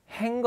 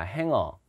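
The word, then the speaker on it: hanger: 영어로 이거는 이렇게 씁니다 발음은요 행거 아닙니다 행거 아니고요 행합니다 행어 가수는 쓴 겁니까 싱거 싱거 행거 자 행을 발음 조심해요 행어입니다 행하는 다른 거 아닙니다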